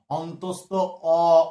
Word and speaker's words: অন্তস্থ অ: হয়ে যাবে কি বলতো, অন্তস্থ অ, অ। শেষে শর্টটা আসবে অ, জ কখনোই আসবে না, ঠিক আছে, অ হয়ে যাবে অ, তাই এর নাম অন্তস্থ অ, অন্তস্থ অ।